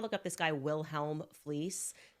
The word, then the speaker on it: Fliess: If you want to look up this guy, Wilhelm Fleece, Fleece is spelled Fleiss.